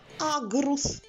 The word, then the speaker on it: аґрус: схема наступний малюнок ягода аґрус порахуймо скільки складів в цьому слові аґрус в цьому слові теж два склади перший ми вимовляємо на одному поштовху повітря аг а Ґ чуєте вимовляємо горличком Отже що ми чуємо аг